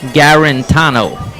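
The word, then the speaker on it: Garritano: of play right side spell g a r r i n t a n o garano is how they pronounce it here on the PA two outs Runners on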